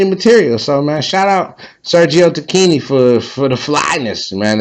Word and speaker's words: Sergio Tacchini: to look it up on YouTube and it's pronounced Tini. So, Sergio Tini, shouts out to them, man.